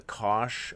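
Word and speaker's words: cosh: Sometimes it's pronounced the kosh of alpha t and the negative hyperbolic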